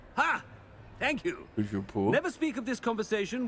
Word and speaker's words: Toujours pur: Toujours pur. Ha! Thank you. Toujours pur.